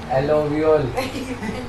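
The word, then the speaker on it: alveoli: पढ़ो तुम्हारा प्रोनाउंसिएशन पता लगेगा समाज को। एलोवियोल एल्वियोली ऐसे एल्वियोली क्या बोलते हैं?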